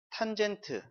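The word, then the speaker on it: cotangent: 그 다음에 COT. 코탄젠트. 라고 읽습니다.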